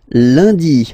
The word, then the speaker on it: lundi: And in France, the week starts with lundi, Monday. Lundi, lundi. Okay, remember, UN is pronounced like un.